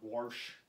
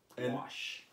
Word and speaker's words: wash: forgive Ozarkians for is the word warsh. You mean washrag? That's how I grew up. Absolutely. I'm going to say that every time I get a chance. You want a washrag? You look a little heated. It's bothered me since I was a kid. It's wash.